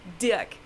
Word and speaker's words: Dirk: right, but the first name is pronounced Dirk.